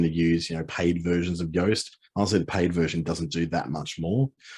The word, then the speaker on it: Yoast: So Yoast is spelled like toast.